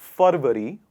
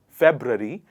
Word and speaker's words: February: on 10th of february a lot of people say ferveri or february and they get confused a lot in how to pronounce the ru sound in the word and what is the correct version i'm going to write it for you please have a look please repeat after me rory february february not february because